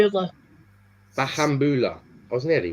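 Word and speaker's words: Bahamboula: Obviously, Dylan Bahabula. Is that how you say it? Bahambula.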